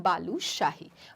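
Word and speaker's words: बालूशाही: इसको हम कहते हैं बालू शाही।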